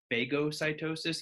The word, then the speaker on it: phagocytosis: I've also heard it pronounced phagocytosis. Either one is fine, but I hear phagocytosis more often.